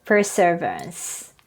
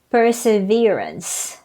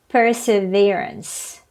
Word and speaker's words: perseverance: word people pronounce this and i used to pronounce this way too for servants per servants but the right pronunciation is perseverance perseverance great third syllable next people pronounce this a